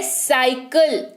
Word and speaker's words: cycle: साइकिल, अगली spelling है साइकिल, CYCLE, साइकिल। वाई दिख रहा है स्पेलिंग में, स्पेलिंग से पहले सी दिख रहा है, हो गया उच्चारण साइकिल।